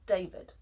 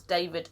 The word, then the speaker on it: David: Now, the Spanish D is a soft D. And for the soft D, listen to David in Spanish, or how a Spanish speaker would pronounce David in English without knowing the sound of the hard D would be David, yeah?